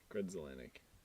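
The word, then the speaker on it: Grudzielanek: Z-I-E. It's pronounced Z according to the pronunciation key here. Okay. Zelanik. L-I-N-A-K? Nope. E-K? Well, it's L-A-N-E-K. Okay. Yeah. Lanik. Grudzelanik.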